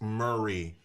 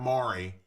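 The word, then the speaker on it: Maury: look that's new here it's murray not mari murray county murray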